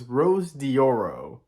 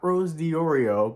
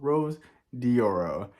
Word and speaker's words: Rose Dioro: one the only Rose diorio and I just mispronounced her name again so it's Rose dioro not Rose diorio but Rose dioro and I do want to preface that this